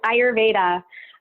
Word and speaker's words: Ayurveda: So can you describe for listeners what that is and also how to properly pronounce it? Yes, Ayurveda.